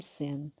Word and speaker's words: zen: Este propagou-se mais tarde ao Japão e transformou-se, por sua vez, no budismo zen, que significa meditação e contemplação, é pronunciado Zen em japonês.